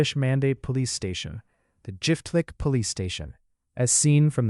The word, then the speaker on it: Jiftlik: In Turkish, these royal estates were called Çiftlik, which the locals pronounced as Jiftlik.